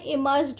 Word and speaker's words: immersed: और यह क्या बोल रहा है कि इसमें इमर्स्ड होते हैं। प्यारे बच्चों, यहाँ पर भी हमारा जो आर है वह साइलेंट है, इसे इमर्स्ड पढ़ा जाएगा। और ये जो डी नहीं, इस टी का साउंड पढ़ा जाएगा, तो आप इसे क्या पढ़ेंगे?